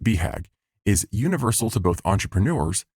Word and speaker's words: BHAG: The acronym “BHAG” (commonly pronounced bee-hag) is universal to both entrepreneurs and self-help authors.